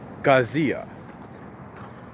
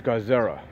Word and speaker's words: Garza: you know animated and edited by one Jorge Garcia Garcia yeah that's GA r za that's the last name Jorge Garcia Oh God Jorge Gazzara yeah Jorge Gazzara that's what it is Sava